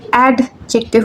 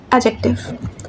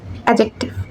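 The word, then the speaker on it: adjective: অর্থাৎ এডজেক্টিভ আমাদের নাউনের দোষ গুণ এবং অবস্থা সম্পর্কে বলে এবং এটাকে আমরা অডজেক্টিভ বলবো না। আমরা এটাকে বলব এডজেক্টিভ এডজেক্টিভ অর্থাৎ ডিটাকে আমরা উচ্চ রাখবো উচ্চারণে নিয়ে আসবো না।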